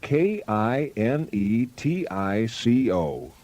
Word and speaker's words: Kinetico: That Oh, means son, you should have remembered kinetic as in kinetic energy with an O on the end. Connecticut. Connecticut. Spell it Kinetico.